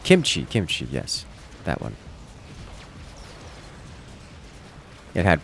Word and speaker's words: kimchi: Has an E sound at the end. Kimchi, yes, that one.